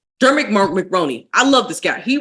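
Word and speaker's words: Dermot Mulroney: Dulmit McRoney? Dermot McRoney.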